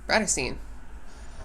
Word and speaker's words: Bratterstein: my channel name is pronounced BRATTERSTEIN.